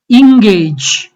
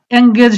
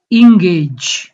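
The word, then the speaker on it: engage: ইংগেজ, এঙ্গেজ হবে না, উচ্চারণটা হলো ইংগেজ।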